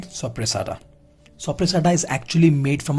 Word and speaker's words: Soppressata: The pronunciation of this is Soppressata.